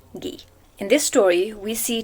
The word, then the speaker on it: Guy: is a french writer we don't say guy instead we say gee in this story we